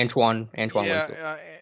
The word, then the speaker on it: Antoine Winfield: Antone, how do you pronounce it? I say Antoine Winfield.